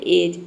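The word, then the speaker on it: edge: ई डी जी ई इसमें जो डी है ये साइलेंट रहता है क्योंकि देखिए ये रूल है कि किसी भी वर्ड में अगर डी जी एक साथ आता है या फिर डी के बाद जी ई आता है तो वहां पे डी लेटर साइलेंट रहता है तो यहां पे देखिए डी लेटर साइलेंट है और ई जी ई को हम पढ़ रहे हैं एज ठीक है और ये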